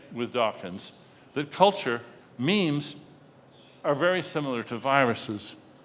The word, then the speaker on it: meme: his idea of the meme. That's the way it's pronounced, meme, not mem, meme.